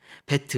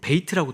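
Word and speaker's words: בית: 그런 뜻을 어 가지고 있습니다 두 번째는 배트입니다 베트 뭐 베이트 발음도 하는데 우리는 그냥 베트라 합니다 이것은 음간 어 음가는 비급이 예 그리고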